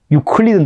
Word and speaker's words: 유클리드: 유클리드는 들어봤죠? 유클리드. 기하학의. 예. 유클리드는 영어식 발음이고, 그걸 따지고 원론을 하면 그렇게 됩니다, 아까.